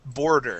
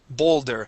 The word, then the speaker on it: Boulder: and this word here this is a tricky one because of the O and the L and the D all right H when you when you pronounced it it sounded like you said bore border yes I I heard it when I when I WR okay so what we want to say is bow Boulder and you kind of